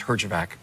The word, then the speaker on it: Herjavec: From now on, your name is Herjavec."